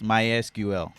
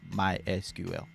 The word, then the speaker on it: MySQL: acronym structured query language the fourth one is mysql yeah that's how it's pronounced mysql like the other guy the fifth one is